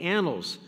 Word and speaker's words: annals: the magazine came and now I see there's two n's in this spelling um uh Ken is